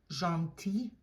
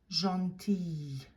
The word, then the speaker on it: gentil: Gentil, gentille, gentil, gentille. That final L is not pronounced in the masculine form, but you hear it as a Y sound in the feminine form, and you linger on that Y sound at the end.